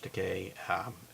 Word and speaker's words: Takei: Takei or George Takei how do you say it George Takei - with toupee it rhymes with toupee George Takei oh my and that's